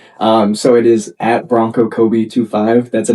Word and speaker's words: Coby: The actual name is Bronco Kobe 25. So it's C O B Y. A lot of people spell or pronounce my name wrong is um but anyway,